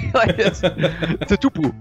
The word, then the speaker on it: Tatupu: I know how to say this, but that's mainly because I grew up watching rugby and like there's about 2 million Tatupus running around playing for Tonga, right? So like Tatupu.